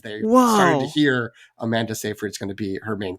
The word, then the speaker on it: Seyfried: I don't know why I wanted to say Seyfried. I think this is another one where people just decide how to pronounce her name and everyone says it differently. But I think it's Amanda Seyfried.